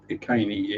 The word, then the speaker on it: Iceni: Ironically, it's called the Queen of the Iceni, or Iceni, if you actually pronounce it correctly.